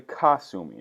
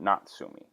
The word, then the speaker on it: Kasumi: I am not mistaken it's actually Kasumi not natsumi and she's an okay